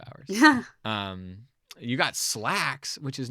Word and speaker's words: Slaxx: And so Slacks is spelled SLAXX, but it is about a pair of pants, like slacks, like a pair of demon pants, basically.